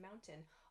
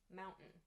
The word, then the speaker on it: mountain: of the word but native speakers don't pronounce the t sound clearly like i just did instead we say important written mountain this has like an